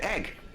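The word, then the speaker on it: æg: Egg is Danish. Oh, it's pronounced exactly the same and spelled A-E. Oh, okay. You see, I've learned a Danish word. Egg.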